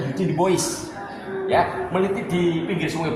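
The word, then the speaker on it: Eugène Dubois: Eugene de Bois atau bacanya Eugene de Bois.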